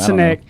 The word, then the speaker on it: Sinek: A great book to go get is Simon Sinek, and I always say his last name wrong. No, you got it. Sineck. That's how I say Simon it. Sinek.